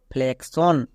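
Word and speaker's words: flexion: এর পরে ওয়ান আছে তাই এর জন্য কস উচ্চারণ হলো তাই এটা কি হলো ফ্লেক্সন ফ্লেক্সন তারপরে দেখো সাফিক্সন এখানেও এক্স আছে এবং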